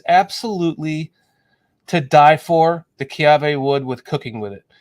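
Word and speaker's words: kiawe: W uh you if you but it's it's pronounced kave and it's basically it's the most beautiful it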